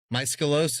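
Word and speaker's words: Maeskolos: Malos is the individual muscaloy for the multiple.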